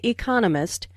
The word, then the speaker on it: economist: Smith is an economist notice the stress on Economist this content word has new information so it is emphasized there are four syllables in Economist with the stress on the second syllable Economist he just finished